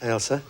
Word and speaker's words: Ailsa: Ailsa is how you pronounce it, though, isn't That's it? correct. Ailsa.